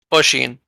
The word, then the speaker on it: Oshin: Oh, Oshin. Okay, Oshin. Okay. It's like the from bruh and then sheen from machine, and you should have it close enough.